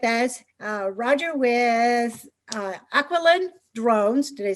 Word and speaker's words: Aquiline: roger is with us uh roger with uh aqualynn drones did i say it properly yes she